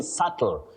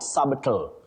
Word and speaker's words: subtle: You say subtle not sabital. That B is silent.